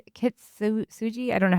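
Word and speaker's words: Kintsugi: remember the name of it's um Kitsu Suji. I don't know how to say it. Yeah, Kitsugi.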